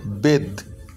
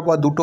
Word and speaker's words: bathe: যদি এ থাকে এবং তারপরে একটা বা দুটো কনসোনেন্ট থাকে এবং শেষে যদি ই থাকে, তাহলে দুটোই মিলে উচ্চারণটা হয় এ, তাহলে BATHE, বেদ। এবার TH এর উচ্চারণ কখনো হয় থ, কখনো হয় দ। এখানে আমি দ উচ্চারণ করছি, তাহলে উচ্চারণটি যে বেদ, বেদ।